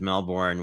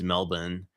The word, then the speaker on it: Melbourne: Actually, my best friend from high school is from what I would pronounce as Melbourne, which I believe it's Melbourne, if you are correctly pronouncing it as an actual Australian person.